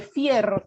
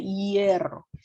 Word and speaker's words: hierro: en números en romanos no se dice fierro chicos se dice hierro ya el elemento es hierro no es fierro El Fierro es todo